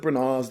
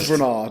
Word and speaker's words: Branagh: on you think oh kenneth bernard's doing it we'll be all right and then kenneth branagh darling that's how that's how you pronounce it in the in the in the world of theater yeah so he's